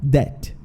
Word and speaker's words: debt: Tem esse B aqui, só que esse B, ele é mudo. Esse B, a gente não pronuncia ele. Então, é como se fosse só debt, tá bom?